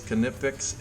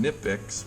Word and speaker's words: Knipex: players okay now I've heard it pronounced a couple different ways kinetics and nip --ax but even the people who work for the company haven't figured it out because I've seen them pronounce it kinetics and I've also seen them four notes that nip X so however you want to pronounce it you can have a big debate about that if you want this is this is